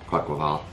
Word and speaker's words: Quaquaval: It's do you pronounce that Quackerval? Yeah, Quackerval.